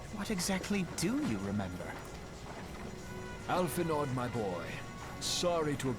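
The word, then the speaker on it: Alphinaud: Alphinod, my boy. Sorry to have been such a burden. Did he call him Alphanod? Did he actually mispronounce his name?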